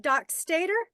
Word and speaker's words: Dockstader: is that how we say your name doc Stater yep that's how I've always pronounced it I've heard other people pronounce it